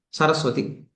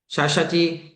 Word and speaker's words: சரஸ்வதி: Example இப்ப உங்க பேரு சரஸ்வதி ஏது சரஸ்வதி அப்படின்னு நான் கூப்பிட்டா கரெக்டா இருக்கும். சஷதி சஷதி சஷதி அப்படின்னா கூப்பிட்டா அப்படின்னா அது பேரே சரியா இருக்காது உங்களை கூப்பிடுற மாதிரி இருக்காது உங்களுக்கு அவமானப்படுத்துற மாதிரி இருக்கும்.